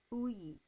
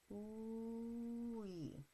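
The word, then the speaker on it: 의: So you're basically doing two syllables, uy, uy, right? So this one is adding that, not ooey, ooey, right?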